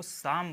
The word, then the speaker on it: psalm: फिर ये PSALM. ठीक है, PSALM, इसको साम बोलते हैं, इसमें पी नहीं पढ़ा जाएगा.